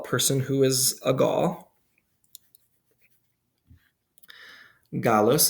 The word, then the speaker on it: Gallus: Gallus is how we'll pronounce it, or how I'll pronounce it. If you're using ecclesiastical pronunciation, you might say Gallus.